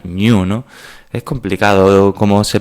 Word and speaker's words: GNU: la deimo Pues eso gn1 que pronunciando es como el animal New no es complicado Cómo